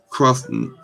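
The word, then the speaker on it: chthonic: Underworld or I ain't got my glasses on or crossnic. power, which is spelled C H T H O N I C.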